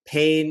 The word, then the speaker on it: Payne: Pain is spelled P A Y N. Uh again it is my my mom's maiden name. So it is with a Y.